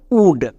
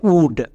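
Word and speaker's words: would: specially মনে রাখবা কুড সুড আরেকটি ওয়ার্ড দেখো উড এখানেও আমাদের ও ইউ হসুকার সাউন্ড দেবে এই শব্দের উচ্চারণটা হবে উড এবং এখানে এল সাইলেন্ট এই শব্দগুলো ইংরেজি রিডিং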